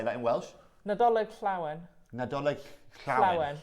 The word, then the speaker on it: Llawen: Is that how you say it? Double L, yeah. How do you say that in Welsh? Nadolig Llawen. Nadolig Llawen. Llawen.